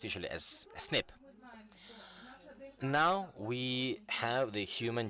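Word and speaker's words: SNP: polymer phases what does that mean and it's pronounced usually as snip now we have the human genome decoded we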